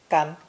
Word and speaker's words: 干: A shield or a pestle, depending on viewpoint, is a three-stroke character pronounced gan.